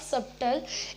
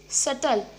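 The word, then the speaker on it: subtle: नो, इट्स नॉट सबटल, इट्स सटल. सटल, इसके अंदर जो हमारा बी होता है वो साइलेंट होता है, हम इसको पढ़ेंगे SUTLE, सटल.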